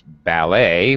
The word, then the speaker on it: ballet: doesn't even follow English rules that's why we pronounce ballet we're the dancers are you know that's why